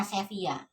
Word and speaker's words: Sevilla: Ini masanya Muluk at-Tawaif atau Taifa, atau kerajaan-kerajaan kecil yang dimana diantaranya adalah Bani Abbad di Sevilla, bacanya Sevilla lisannya, tapi bacanya Sevilla.